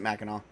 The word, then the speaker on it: Mackinac: horror of Mackinaw Island is it Mackinaw or Mackinac we pronounce it Mackinaw okay yep yeah kind of like how people